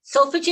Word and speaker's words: solfeggio: So just before we get into that, I want to talk about solfeggio. Solfeggio, am I pronouncing it? Solfeggio.